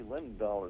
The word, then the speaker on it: Linendoll: I spell it Linendoll, like linen doll.